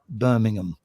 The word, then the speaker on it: Birmingham: You fly him to the other Birmingham, which is pronounced Birmingham.